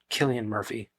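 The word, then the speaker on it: Cillian Murphy: the best thing about the second one is selan Murphy I love that dude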